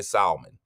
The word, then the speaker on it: salmon: I didn't hear you say it with the L. So I appreciate. I know you didn't say salmon. So it's salmon.